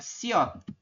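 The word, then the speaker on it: 시옷: bahasa Indonesia nama singkatannya ST berarti kepanjangannya adalah siot ini ya kepanjangannya adalah siot siot itu penjelasannya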